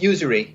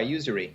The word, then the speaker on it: usury: Usery I mean I can't even it's it's pronounced Usery just the way just the way it's spells us Ur r y Usery Usery Usery okay I I was call it